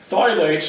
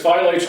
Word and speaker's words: phthalates: the harm from phthylates We're exposed to okay phylates and this is spelled a funny way p h t h l a l a t e s and this is an interesting one because phthalates are not regulated on the EPA Safe Drinking